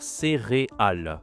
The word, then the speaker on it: céréale: on parle vite on on prononce très rapidement céréal devient céréal céréal on entend comme un i un peu ici mais c'est pas correct on doit dire céréal d'accord c'est le e c'est réal par exemple